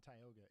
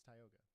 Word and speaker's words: Tioga: Apparently it's Tioga, just FYI, before they send carrier pigeons with pronunciation guides attached. It's not Tioga, it's Tioga.